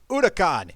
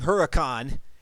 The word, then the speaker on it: Huracan: AMS Huracan. Yes, I know I've been saying Huracan, and I know the H is silent, but that's just my initial instincts to just throw out the Huracan out there.